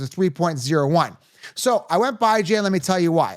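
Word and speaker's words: Bijan: to me it's clear-cut it's going to be by Jan Robinson now some people say well Joe why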